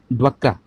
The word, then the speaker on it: DWCRA: अगला दिया है ड्वक्रा, इसकी स्पेलिंग होती है DWCRA, ठीक है।